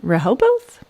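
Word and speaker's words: Rehoboth: All right, Delaware, the Raoboth Beach Seashore Marathon. So I'm not sure if I'm pronouncing that exactly correctly, but I'm sure somebody will correct me if I'm not. Rahoboth.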